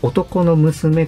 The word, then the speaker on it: 男の娘: つもさんはですね、男の娘と書いて男の子と読む、そうい